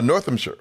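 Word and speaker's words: Northamptonshire: Northampshire.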